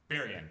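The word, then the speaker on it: Berrien: Barian.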